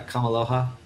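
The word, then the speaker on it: Kameāloha: Kamialoha? Is that how you say it? Dr. Doogie Kamialoha? Doogie, yeah, Kamaloha.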